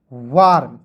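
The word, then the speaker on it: warm: उसके बाद देखिए डब्ल्यू ए आर एम वार्म।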